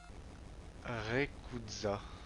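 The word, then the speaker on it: Rayquaza: Rekuza. Ouais, mais non, c'est la prononciation Jap, on n'est pas obligé de se calquer dessus.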